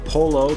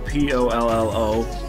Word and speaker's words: pollo: native english speaking individual polo p-o-l-l-o that's how it looks like it's pronounced english but it's pollo in spanish and it means chicken